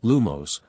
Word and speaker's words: Lumos: Now, the simplest charm is lumos. It creates light at the tip of your wand. The incantation is lumos, pronounced llo, with the emphasis on the first syllable.